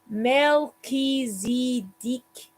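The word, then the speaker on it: Melchizedek: call them okay oh it says pronounced mel key zee dick no alcohol melee as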